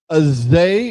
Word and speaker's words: Zay: Speaking of wide receivers, wide receiver Azay, is that how you say it?